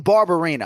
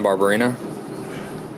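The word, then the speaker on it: Barberena: are we speaking that is brian barbarina brian barbarina all right let's brian barbarina brian barbarina brian barbarina yeah brian barbarina not all athletes are as good a sport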